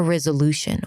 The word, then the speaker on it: resolution: Re, z, it's a Z sound and a schwa. Re, z, lu, u as in food, shen. Resolution.